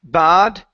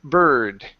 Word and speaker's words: bird: is the word bird instead of bad give me the r in there so it's bir bird bird good for hurting